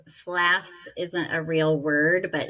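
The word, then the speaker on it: Slaughs: So slass as in slaughter. Yes. S l a u g h. Yes. And so it's slass isn't a real word, but it rhymes with lass.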